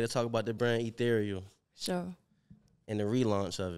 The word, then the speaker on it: Ethereal: Ethereal. It's easy. Ethereal. Yeah. Rhyme with cereal.